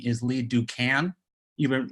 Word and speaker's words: Duncan: quick correction my lip my name is Lee do can you've been mispronouncing my name all this time and I